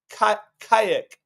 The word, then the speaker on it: Kaick: You got to be really careful with how you pronounce this Brazilian player who has one name. It's Kayak.